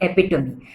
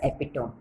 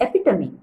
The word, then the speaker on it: epitome: had mispronounced the word epitome epitome the real pronunciation should be epitome and i had said it as epitome fine i take it as a learning i'm